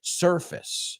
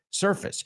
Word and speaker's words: surface: No surface, surface. Sir, como señor, fis, surface.